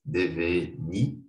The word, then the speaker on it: devenir: The pronunciation is devenir.